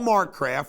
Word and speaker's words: Marcraft: The mayor, Paul Marcraft, rhymes with political graft, does that sends that out to residents on official letterhead as pictured up here campaigning.